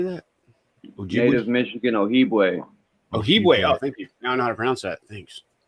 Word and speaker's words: Ojibwe: Ojibwe. Oh, thank you. Now I know how to pronounce that.